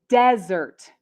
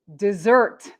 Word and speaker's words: desert: two words the first one is the noun desert desert a desert is a dry region a dry area in a country like in africa we have the sahara desert next we have the verb dessert dessert and dessert means to leave suddenly and